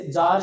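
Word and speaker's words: tsar: जैसे जार शब्द है, रूस के राजाओं को जार बोलते थे, तो बताओ उसका नाम किससे शुरू होता है, टी से शुरू होता है।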